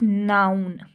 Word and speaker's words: known: अब इसको देखें, अब लिखा हुआ KNOWN है, लेकिन हम पढ़ रहे नाउन है, के को नहीं पढ़ रहे, कि नाउन नहीं कर रहे, हम नाउन सिर्फ कह रहे हैं।